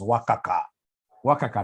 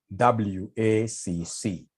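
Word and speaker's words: WACC: the question advise the company on the optimal WCC how do we get this w can somebody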